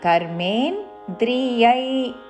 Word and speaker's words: కర్మేంద్రియైః: కర్మేంద్రియై yeah ఐత్వముతో విసర్గ పక్కనున్న పదములోని క అందుకుంటూ కర్మేంద్రియై కర్మయోగం కర్మయోగం కర్మేంద్రియై కర్మయోగం అసక్తః స విశిష్యతే.